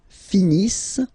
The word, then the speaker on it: finissent: Ils finissent. So remember, as usual, when we get the verbs E and T not pronounced.